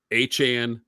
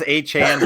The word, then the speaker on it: Achane: It's Achane. What is it? Do we know? He says Achane, but I like Achane better.